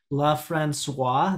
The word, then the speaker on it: LaFrancois: system in your role there and then also la francois that's how you pronounce it yes yes you know uh so